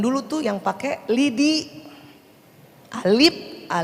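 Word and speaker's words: ا: Zaman dulu tuh yang pakai lidi, alif, bukan lagi A, bacanya alif, ba, ta, sa.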